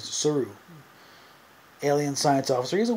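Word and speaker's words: Saru: see Doug Jones as suu that's the way he pronounced it in interviews suu alien science officer he's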